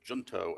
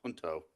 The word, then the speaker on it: Junto: the applicant here uh I would have said junto SRS I understand it's pronounced hunto uh s RS LLC